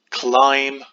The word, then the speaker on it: climb: Sing, open, climb, with that silent B at the end, run, and race.